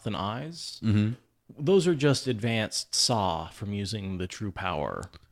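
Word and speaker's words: Saa: Is that how it's pronounced? Saw? Saw, S-A-A.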